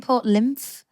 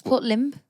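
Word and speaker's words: Lympne: everyone gives shout at me if you're saying Port lymph what is it not that it's Port limp I've never even answer it's Port limp Port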